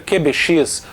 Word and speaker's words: QBX: para padrão de placa-mãe o kuga qbx ou também pode se pronunciar Kyuubi ex é um gabinete mini